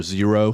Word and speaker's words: Xero: I have another pair, Zero, spelled with an X, Xero.